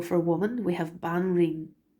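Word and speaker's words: Banríon: We have Banreen it's like the woman king. Banreen is the queen, and Ardri is the high king. So and Banreen Chinny.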